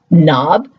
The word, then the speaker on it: knob: When we think about words like no, not, knob, that all start with KN, there's always the consistency of getting that n sound, and no one's giving it the K.